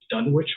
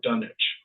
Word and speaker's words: Dunwich: Gary actually reviewed, and there's two pronunciations of it: Dunwich horror or Dunwich horror. It just depends. Dunwich is, I think, is the one that's in England, and Dunwich is the American town.